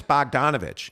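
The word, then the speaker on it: Bogdanović: Bojan Bogdanovic. Like, what's the story here, man? You know it's Bogdanovich. Yeah, I know. Then why won't you say it the right way?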